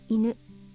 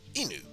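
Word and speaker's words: 犬: Inu. Ah, our doggo buddy, Inu. Which, of course, we know the E character. We haven't studied Nu yet, though hopefully that'll change. But yes, it's Inu.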